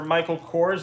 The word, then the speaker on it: Michael Kors: coors bag that's for michael kors is that how you say it yeah that's right i know handbags actually